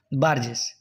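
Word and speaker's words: Burgess: আর এল মিত্র নাকি বার্জেস তো এখানে বার্গেস বা বার্জেস এটা বার্গেস উচ্চারণ করলেই ভালো হয় তাহলে এখানে সঠিক উত্তর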